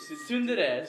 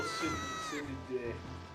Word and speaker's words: tsundere: You're gonna put that in like in the description, aren't Tsundere. you? Just put in what you think how you think it's spelled. Okay? It sounds like SUNDREA. Tsundere.